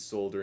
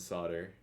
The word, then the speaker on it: solder: I've heard it both ways, solder and solder. Oh, the L is silent.